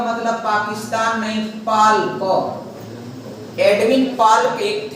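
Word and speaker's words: Palk: तो पाल्क में डियर यल साइलेंट हो जाता है, तो इसी को उन्हीं के नाम पर यहाँ पर खाड़ी का नाम दिया गया, पाक की खाड़ी या पाक खाड़ी। तो पाक खाड़ी और मन्नार की खाड़ी को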